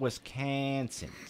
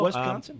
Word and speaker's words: Wisconsin: Is that Wisconsin or is that Wisconsin? Wisconsin. It's the second syllable that gets that accent.